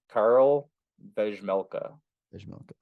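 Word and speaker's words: Karel Vejmelka: Karl Vejmelka.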